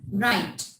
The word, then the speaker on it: write: Here in this one sentence, the W is silent. We take start from R. Right.